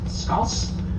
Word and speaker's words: Scouse: Their spelling and pronunciation, S-K-A-U-S, Scouse, but we've changed it to S-C-O-U-S-E, Scouse. It's a traditional dish, a cheaper cut of beef.